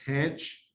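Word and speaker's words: tanh: So the hyperbolic tangent is pronounced tanch, and you can see from its graph, it's bounded between -1 and 1.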